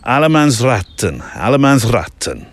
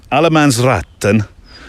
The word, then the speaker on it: allemansrätten: But allemansratten, I think you have to, it's a r, and then 10 sort of fires out the end of the word. But this word, Allemansrätten, since I've learned it now.